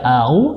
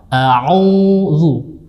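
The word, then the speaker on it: أعوذ: Ya, jangan membaca au, tapi yang benar insyaallah auzu.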